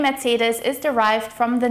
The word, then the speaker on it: Mercedes: It is also important to note that the C sound here in Mercedes is more like a harsh TS sound. Tss, tss. Mercedes. Mercedes Benz.